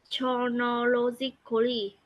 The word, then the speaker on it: chronologically: listener through the narrative chronologically. Okay, very good. In English, CH means it's silent H. You do not pronounce H. So it's Chronologically.